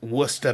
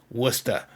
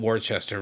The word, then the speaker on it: Worcester: Wora. And you can see, of course, it's spelled Warchester, right? But anyone in the know. And of course, up there in Massachusetts where I lived, it was Wora because that's how we say things up there.